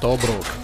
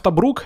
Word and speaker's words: Тобрук: Ну что, друзья, в следующий раз мы отправимся в Тобрук, или в Тобрук, я думал, типа ударение на первый слог, и узнаем историю вот этого мужика.